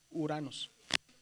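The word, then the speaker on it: Οὐρανός: Desaparece a la o la la o y se pronuncia solamente la u. Uranos, cuando son las dos vocales entre la o y la u.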